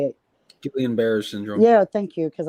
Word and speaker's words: Guillain-Barré: different military people that got GBS, which is Guillain, or how you say it? Guillain-Barré syndrome.